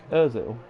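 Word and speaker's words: Özil: Is it Uzil? Uzil, sorry, I keep messing it up. Never mind. Sounds like a football player's name. Ozil.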